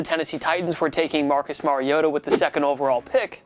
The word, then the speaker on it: Mariota: to say there bud it's pronounced Mariota who really doesn't even